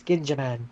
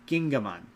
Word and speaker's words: Gingaman: So a thing I so wait that was That's Ginjaman. Gin Ginjaman? Gingaman ga ga Gingaman? with the G sound.